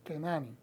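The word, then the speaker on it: כנעני: sometido eh etcétera y la pronunciación para una persona que proviene de Canán el cananeo en hebreo se dice kenani Okay estas siguientes anotaciones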